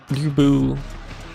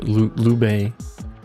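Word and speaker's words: Lü Bu: Also, why is Lubu, not Lubu, uh, Lube, it's apparently how that's pronounced?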